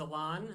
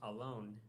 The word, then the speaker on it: Elin: That's a Hebrew name, and I found out recently I've been pronouncing it wrong my whole life. I was talking to a friend who lived in Israel. He said it's actually pronounced alone, and it means oak tree in Hebrew.